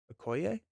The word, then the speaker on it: Okoye: The E on the end of Dora Milaje is pronounced the way at the E of Okoye. Milaje. Milaje? Okoye?